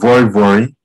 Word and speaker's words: vori vori: They have this soup called vori vori. It's spelled V-O-R-I, V-O-R-I.